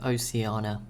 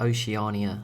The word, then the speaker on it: Oceania: civilization five oceana game i'm still not sure how to pronounce that i'm gonna stick with oceana could be wrong i think i used to say like oceania and that's when people moan so maybe maybe it's oceana there we go that's